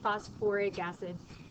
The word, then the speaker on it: phosphoric acid: change his name phosph it's actually phosphoric acid it sounds weird to say phosphoric acid I don't know why we have to add a little Sy syllable in there around then so this is phosphoric acid it just sounds better coming out of your mouth that's really the only